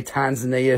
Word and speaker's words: Tanzania: This is T-S-A-V-O-R-I-T-E from Tanzania, not Tanzania. Only white people say Tanzania who haven't been to Africa, so it's Tanzania. That's how they say it there, so don't forget it.